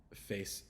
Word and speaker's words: face: with the next word so face uh face it has the a sound and then it has the Soft C because the E is there at the end so the E is silent at the end but it changes the a to a a sound and the C to a soft CC sound so uh it's not Fu we have another English